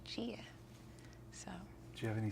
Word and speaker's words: Gia: Instead of the hard G sound like Gilbert, he wanted it to be the soft G, Gia.